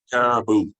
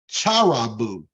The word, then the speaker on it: caribou: Caribou. Depending on where one lives, that may be pronounced caribou with a hard K or charibou with a hard CH.